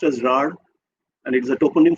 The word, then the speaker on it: Rarh: It is pronounced as Rar, and it is a toponym for an area